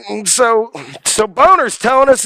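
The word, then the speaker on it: Boehner: Is that his name, how you pronounce it? Boner.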